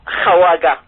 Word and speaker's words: Khawaga: Comme le kha en espagnol, la chota.